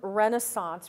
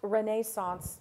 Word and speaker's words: Renaissance: Now, let's talk about the term Renaissance, pronounced Renaissance by some scholars. We'll go with the American accent, Renaissance.